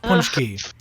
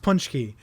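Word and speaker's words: pączki: weird look at this p-a-c-z-k-i but that's pronounced punch key so we're talking about weird pronunciations it's pronounced punch key and that's it's it's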